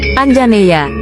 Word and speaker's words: Anjaneya: Sebagai putera Anjani, Hanuman dipanggil Anjaneya, diucapkan Anjaneya, yang secara harfiah berarti lahir dari Anjani, atau putera Anjani.